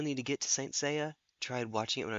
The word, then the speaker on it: Seiya: Dragonlord was going on about Saint Seiya, which I keep wanting to pronounce as Saya. It's not.